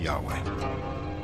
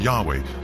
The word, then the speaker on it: Yahweh: So his title, in a sense, was God, and his name was these 4 letters, which in English would be YHWH, which we think were probably pronounced something like Yahweh.